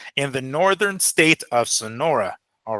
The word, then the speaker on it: Sonora: I know he's in how do you say Sonora?